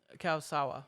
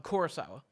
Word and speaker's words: Kurosawa: of the same movie it's funny because um kyle sawa i keep saying his name wrong i'm kurosawa um yeah kep uh has gone on interviews